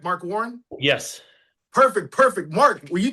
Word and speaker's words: Mark Warren: That's how you pronounce it, correct? Mark Warren?